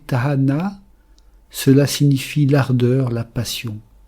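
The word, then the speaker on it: תאנה: Le filier c'est ta na un taf alf noun et he. Prononcer tahana, cela signifie l'ardeur, la passion.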